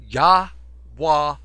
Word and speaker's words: Yahwah: It's called Yahwah Ministries. You spell Yahwah this way, and you can go straight to the website. Spell it Y-A-H, as in Yah, as in saying hallelujah.